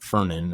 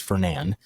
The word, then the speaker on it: Fernan: If you see it if you see the word, you would think it's pronounced Fernan or some other way, but it's Fernan.